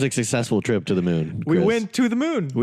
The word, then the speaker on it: Mun: Even though this is Kerbal's moon. MUN. MUN. No, well, it's still pronounced moon because it's an umlaut. Ooh. So it's an ooh sound.